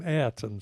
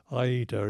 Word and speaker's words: Ayrton: hi Anton Senna and I had become sloppy like a lot of people and was now calling him Ayrton Senna so I resolved in the 1994 that I would use his correct pronunciation of his Christian name so in the first race of the which was I eat her in Japan if